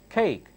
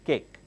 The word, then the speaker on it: cake: desert this one cake cake notice I'm not saying cake I'm saying between K and K H cake coffee tea again tea